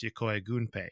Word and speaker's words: Yokoi Gunpei: For example, Gunpei Yokoi, who we're going to talk about quite a bit in this episode, is actually pronounced Yokoi Gunpei instead.